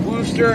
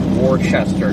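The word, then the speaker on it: Worcester: that right is it Wooster is it like I I swear people kept telling me to pronounce it Wooster not like Worchester cuz everybody says Worchester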